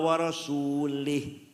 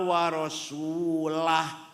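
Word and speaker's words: وَرَسُولُهُ: waallaha barium Minal musyrikina waasulih Allah tidak melindungi orang musyrik dan tidak melindungi Rasulullah salah yang benar bacanya waallaha barium Minal musyrikina waasulah Allah tidak melindungi orang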